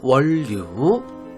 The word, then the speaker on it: 원류: 자, 읽을 때는 원류라고 읽겠죠. 니은하고 니을하고 만나니까 유음화가 됩니다. 원류.